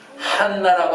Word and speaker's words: 한나: 이 안나라고 하는 이름은 한나라고 하는 이름과 똑같은 이름입니다. 이것을 히브리식으로 발음을 하면 한나입니다.